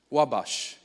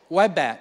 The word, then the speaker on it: Wabash: Wabash. Did I pronounce it right? Wabash?